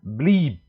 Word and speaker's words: blieb: Kemudian kalau I panjang, I.2 seperti ini panjang, maka pengucapannya adalah blieb ya.